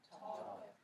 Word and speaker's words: talk: Historically, yes it does. Those L's were never pronounced.